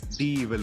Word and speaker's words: D'Evil: Okay, so D-Evil, am I pronouncing it right? It's D-Evil only, right? Absolutely correct. Yes, it's absolutely correct.